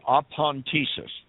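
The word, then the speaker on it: ἀπάντησις: for meat it is the greek word apontesis we would spell that a p a n t t-e-s-i-s and in the first century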